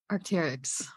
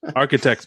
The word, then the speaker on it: Arc'teryx: isn't Nike or Jordan Arc'teryx oh wow that's how you say it Arctic yeah you didn't know that no I thought it was like Architects bro yeah weird names